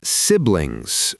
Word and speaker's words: siblings: Next one, siblings. Now, the word itself isn't too bad, but the ending lings can be a challenge. Siblings. Not siblings or siblings just siblings. Siblings. Nice and clean. 2 syllables.